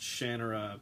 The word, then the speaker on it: Shannara: And yes, it's pronounced Shannara because I was on stage with him and he corrected me about that, and I was moderating the panel.